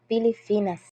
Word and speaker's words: Pilipinas: mali ng asawa sapagkat ang tamang bigkas ay Pilipinas.